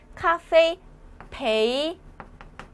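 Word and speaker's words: 咖啡陪你: 있을까요 자 한번 볼게요 카페 커피죠 커피 카페 커피입니다 카페이 베이니 베이니 베네랑 좀 발음이 비슷하죠 베이니 근데 베이는 뭐다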